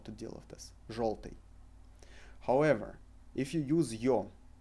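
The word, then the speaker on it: жёлтый: However, we pronounce it in word желтый as o, желтый.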